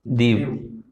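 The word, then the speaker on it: Diu: वाला ये क्या है दीव ठीक है दव बोलते हैं डी य डीयू डी आई यू इसकी स्पेलिंग है और यहां तक गुजरात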